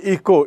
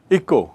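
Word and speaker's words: echo: इको यानी ई सी एच ओ इको इसका उच्चारण देखिए इको इचो नहीं इको इको क्या है इको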